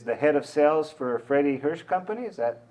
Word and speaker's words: Freddy Hirsch: So, I mean, maybe start out, just tell us, what is Freddy Hirsch and is that how you say it, Freddy Hirsch? Yes, Freddy Hirsch, you're saying it correctly.